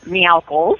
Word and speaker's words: Meowkles: Meowkles instead of Michaels, yes.